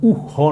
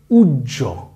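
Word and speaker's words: উহ্য: উচ্চারণটা হ থাকে না তখন তার উচ্চারণটা হবে ডাবল জ এর মত জুজ ঠিক আছে তাইলে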